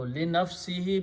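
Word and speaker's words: لِنَفْسِهِ: Again, we pronounce this he. So li nafsihi means to his own self.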